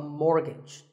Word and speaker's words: mortgage: So which letter is silent here? It's the T. The first syllable is more and the second is gidge, so mortgage.